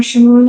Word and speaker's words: Shamoun: But I'm seeing people like you and Sam Shamoon, I think is how you pronounce his name. Sam Shamoun, yeah.